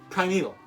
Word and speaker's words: primeval: uh it sounds like I'm saying Prime and then evil you know like like prime number and then what criminals do no it's not like that it's Prime Evil that's all one word and it's spelled p r i m e v a l so it looks like